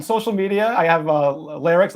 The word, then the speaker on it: Lerrix: r r iix the the name lycs came from squirrel backwards phonetically the word squir if you took this word squirrel and flip it it kind of sounds like larcs I like squirrels um